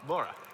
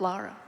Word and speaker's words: Lara: Oh, Laura. No, it's Lara. Man. We'll have to agree to disagree on this one, Tiffy. I'm sorry. We're not disagreeing. It's Lara.